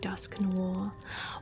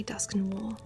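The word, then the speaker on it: Dusknoir: Pronunciation is wrong in my opinion. I pronounce it like dusk no war.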